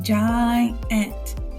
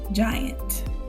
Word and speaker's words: giant: Over here, we would have an open syllable, so it'd be long, so it'd be giant, giant.